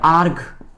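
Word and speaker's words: erg: সিজিএস পদ্ধতিতে শক্তির একক হচ্ছে শক্তির একক হচ্ছে সিজিএস পদ্ধতি শক্তির একক হচ্ছে আর্গ। কিরে আর্কগ। আমি বাংলাটা লিখে দিচ্ছি। এটার উচ্চারণ কি?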